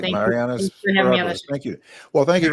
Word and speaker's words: Spryopoulos: Spryopoulos rhymes with metropolis. Yeah, I practiced a whole lot. All right, Mariyana Spryopoulos, who is running for the clerk for the Circuit Court of Cook County.